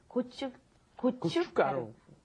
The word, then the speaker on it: 고춧가루: So when you look at it, it looks pretty hard to pronounce. But 고춧가루.